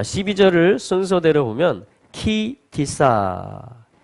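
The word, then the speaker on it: כי תשא: 이것은 키라고 읽혀지고요. 이것은 티사라고 읽혀집니다. 한번 해볼까요? 키티사.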